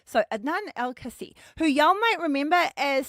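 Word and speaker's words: Adnan Al-Kaissie: were managed there by Adnan El-Kassi. Oh no. Adnan El-Kassi. I wrote that out phonetically to try and help me, and then I ended up just fucking it up. So Adnan Al-Kasi, who y'all might remember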